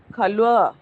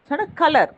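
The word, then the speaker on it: colour: ஸோ ஓ ஜுவா, ஓ ஜுவா, கா இல் கல் உவா கல்வா. கலர், கலர்னு சொல்லக்கூடாது, கல்வா.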